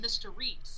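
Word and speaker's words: Mr. Reese: because the thing is when they pronounce it his name they call him Mr Reese and what does that sound like mystery so like right here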